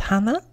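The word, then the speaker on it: 花: It's pronounced hana.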